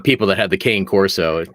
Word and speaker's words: Cane Corso: it's whatever it's like people that have the cane corso it's a kane corso it's like uh okay it's still gonna eat